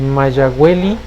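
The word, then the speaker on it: Mayahuel: Entonces normalmente se pronuncia Mayagüel, porque como les digo, ya el náhuatl se ha diversificado mucho, entonces se han ido modificando algunas pronunciaciones.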